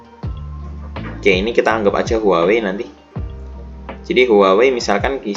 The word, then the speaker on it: Huawei: Bacanya gimana sih? Huawei.